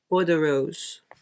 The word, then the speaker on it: Bois de Rose: Let's see how bad I was pronouncing this. Bois de Rose. Bois de Rose.